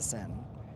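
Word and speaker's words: Seine: I think people don't know this because the way it's spelled or the way that it's pronounced, but it's the s the sin.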